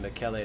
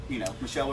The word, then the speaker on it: Michele: Thank you for saying that. I was wondering exactly how to say it. It. Yeah, I know. Well, he's an Italian guy. So, exactly. Yeah, it's not easy, right? It looks like Michelle. It does. Spelled like Michelle. I was going to have to ask when I came here today. Yeah. How exactly? Because I would have just said Michelle or Michael.